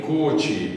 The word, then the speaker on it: Koczy: It's listed 5 times under the name Koczy, and 2 more times under the name Koczy, which is an alternate pronunciation that 1 or 2 branches have used, or even still now are using.